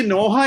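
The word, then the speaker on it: Noah: का दादा था, क्योंकि नोहा एक नया बिगिनिंग है। जैसे आदम एक बिगिनिंग है, वैसे नूहा एक बिगिनिंग है। मैं नोहा बोल रहा हूं क्योंकि इंग्लिश प्रोनाउंसिएशन है, आप लोग नू बोलते होंगे।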